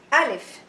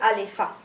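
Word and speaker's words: ألف: Alif is, some kids they say Alifa. No, it's wrong.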